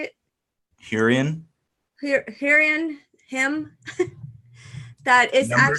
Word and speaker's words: Hurrian: Hurrian.